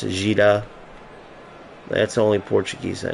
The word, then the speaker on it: Dida: I know that Dida is pronounced Gida.